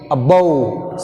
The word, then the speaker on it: above: Bout, above. See here, weak prefix ak, above. Second syllable is bow, that's why we take stress on second syllable.